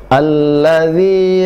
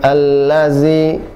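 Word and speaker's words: الذي: Baik, ayat berikutnya alladzi 'allama bil qalam. Baik, alladzi bukan allazi. Alladzi, ujung lidah dengan ujung gigi seri atas cukup dipertemukan tanpa harus ditekan.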